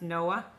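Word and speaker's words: Noé: Tom no way or I think it's pronounced Noah I needs to regular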